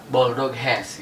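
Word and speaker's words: Boldog Ház: Pelafalannya Bulldog Hes gitu.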